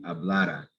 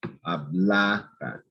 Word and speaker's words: hablara: So it's that second to last syllable, the syllable before the R, that's going to be stressed. So it is important to make sure you pronounce these the right way, spell these the right way. This is going to be hablara, hablara. It goes up. The inflection is here on this A right here.